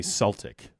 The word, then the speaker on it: Celtic: it's like pronounced it it's actually Celtic but for some reason they say Celtic that's well what we do in America weel n Celtic it's fine yeah it